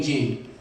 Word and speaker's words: Jean: and I said, well, do you own a pair of jeans? And they say yes, and I'm like, just take the S out, that'll be my name.